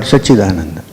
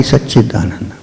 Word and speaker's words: Satchidananda: Why Satchidananda? The word Satchidananda is split into three syllables. The first syllable is Sat. The second syllable is Chit. And the third syllable is Ananda.